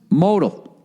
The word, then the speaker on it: Modell: during your read note Modell is pronounced modal modal this underwear is as